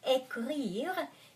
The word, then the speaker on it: écrire: Écrire, because ECR, the second consonant is R, I have to put an accent on E.